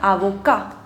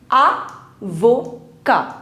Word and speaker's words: avocat: Now, an advocate or a lawyer in French is known as avocat. Avocat. In French, we do not pronounce the last consonant, which is T, so we don't pronounce it.